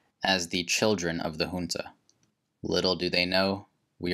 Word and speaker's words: junta: the famous quote-unquote junta by the way it's pronounced junta regardless media outlets have parroted this which in